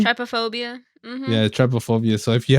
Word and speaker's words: trypophobia: guys had what is it how do you pronounce it Trypophobia Trypophobia yeah Trypophobia so if you have a fear